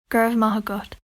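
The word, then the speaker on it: go raibh maith agat: This is how you say, thank you, gurv mahagut.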